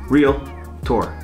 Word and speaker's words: realtor: not a financial advisor I'm just a realtor real tour two syllables not three but if you are